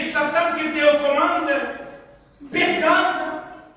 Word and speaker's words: Pergame: Pergame, 2 syllabes, Père et Game.